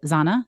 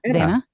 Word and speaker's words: Xana: it, I don't know, Zana? Xana. I'm sure. I'm like Xanadu. This is the parody. Xana don't. Yeah, it has nothing to do with Xanadu, but pronounced the same way, spelled differently.